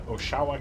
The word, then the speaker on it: Oshawa: the weekend of June 10 and it's in Oshawa Canada shower I'm so sorry gonna take a